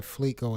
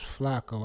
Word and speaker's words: Flacco: been mispronouncing his name i've been saying flicko is flacco i thought i thought it was flacco and i thought i was mispronouncing it thank you dre i